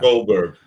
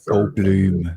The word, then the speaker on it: Goldberg: Jeff Goldberg gold Goldberg do I say it right Goldberg yeah yeah Goldberg I'm sure that's him